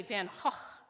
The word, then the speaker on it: Van Gogh: And it's really, actually, Van Gogh is really the better pronunciation, but whatever.